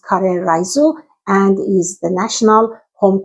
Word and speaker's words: Karē Raisu: Japanese curry rice, pronounced curry risu, and is the national home cooking dish.